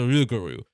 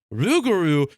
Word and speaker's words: rougarou: And it, in true Cajun fashion, rougarou is Cajun people being too lazy to pronounce something correctly.